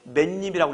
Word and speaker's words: 맨입: 그러면 소리상 니은이 첨가돼. 읽을 때 맨입이라고 읽어야 돼. 알겠어요? 맨입. 그렇게 읽고는 쓸 때는 이렇게 써야 돼. 소리가 그렇다는 얘기야.